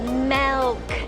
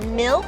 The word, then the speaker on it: Melk: Also, it's Melk, not milk, so it's spelled M-E-L-K.